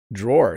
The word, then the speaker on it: drawer: be in a drawer notice how i'm pronouncing this word draw it's kind of a weird sound isn't it drawer it looks like drawer but a drawer is someone who draws oh my friend's a good drawer but this is a